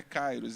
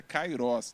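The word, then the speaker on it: kairos: Ricardo veio falar olha não é cairos É kairoz então Toda vez que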